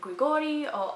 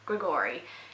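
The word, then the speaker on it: Grigori: supernatural being named a Gregorio I pronounce it with an accent because I'm Greek well Australian Greek but I'm just gonna say with my full Australian accent grigory she finds out that she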